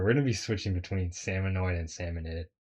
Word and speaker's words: Salmonid: Actually, we're going to be switching between salmonoid and salmonid. I think like salmonade is like the actual pronunciation, but I like I I like saying salmonoid, but salmonade is kind of like quicker though.